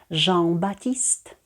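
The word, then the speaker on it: Jean-Baptiste: вже А уже Батіст зверніть увагу в імені жом у нас друга літера вона не вимовляється запам'ятовуємо тому що власні назви не завжди підчиняються правилами читання жавбатіст А тепер давайте прочитаємо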